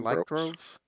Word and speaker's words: lycanthropes: Like the lycandroves. How do you pronounce that? Lichens or Lycanthropes, lycandroves?